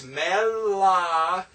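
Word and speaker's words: מְלָכִים: In Melakim, we pronounce the mem and the Shava because it is at the beginning of the word. So we have to pronounce it. So it's Melakim, right?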